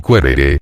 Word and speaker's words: quaerere: Quaerere, pronunciado querere, y luego querere, no era un simple querer algo, sino hacer indagaciones o búsquedas para lograrlo.